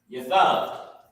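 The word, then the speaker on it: ישב: Yathab. You know what I mean? Yathab is the actual root word. So sit. So first let me put how you pronounce it. Yah, Thab.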